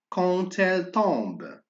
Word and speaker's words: quand elle tombe: Alors, on fait attention à D, on prononce T. Quand elle tombe.